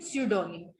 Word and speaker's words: pseudonym: P is silent in the word initial spelling sequence. Initial spelling sequence कैसी हुई, जैसे जब इनिशियल में P आता है तो ज्यादातर, not most of the times but mostly silent होता है. जैसे निमोनिया, न्यूमैटिक, साम, साइकोलॉजी एंड स्यूडोनिम.